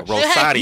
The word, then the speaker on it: Rosario: Like Rosario, because that's how she pronounces it. So I'm gonna do it like her. Rosario.